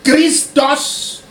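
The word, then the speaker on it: Χριστός: Dans le judaïsme, Messie, qui se dit en hébreu Mashiach, et dans le texte original des Écritures, et en grec, qui se prononce Christos, qui signifie oint, couvert d'huile.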